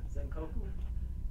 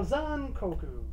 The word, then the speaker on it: Zankoku: Zankoku? Yes, there you go, Zankoku. Zankoku. Yeah, it's like you know, Zan as in dawn, Ko as in go, and Ku as in boo.